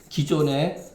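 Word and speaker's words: 磯: 이게 기가 뭐냐?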